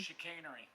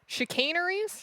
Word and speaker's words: chicanery: Chicanery. Chicaneries?